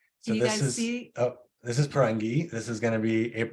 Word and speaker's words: Parangi: It's pronounced pour, like pour tea, on, and then ghee. Like clarify better. Parangi.